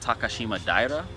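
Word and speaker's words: Takashimadaira: a little bit away from Tokyo which is takashima daire I've never heard of it but that's how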